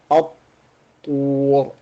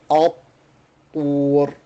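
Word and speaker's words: الطور: And so we pronounce it at-tur, at-tur.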